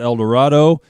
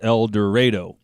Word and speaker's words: El Dorado: And I remember when I first moved to Kansas, I pronounced it El Dorado, and somebody corrected me very quickly, said, no, it's not El Dorado, it's El Dorado.